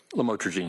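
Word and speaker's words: lamotrigine: Did I pronounce that right? Lamotrogene.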